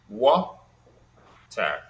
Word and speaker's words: water: For example, there are two syllables in water, water, Ah, and in the word water, the first syllable is stressed, wa.